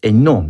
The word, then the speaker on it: Hainaut: As Nault is it? The correct pronunciation is Hainaut, monsieur.